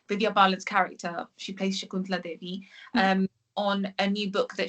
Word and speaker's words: Shakuntala Devi: So going on, another project that you've worked on as well is, I'm going to make sure I pronounce this right, is Shakuntala Devi.